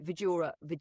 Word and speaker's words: Vidura: Okay, architect, let's continue with the life of Dhritarashtra, Pandu, and Vidura, if I'm saying it right.